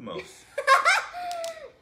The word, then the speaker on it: Lumos: Look at the pronunciation! Lumos. Use to light the tip of the wand. In Latin, lumen means light.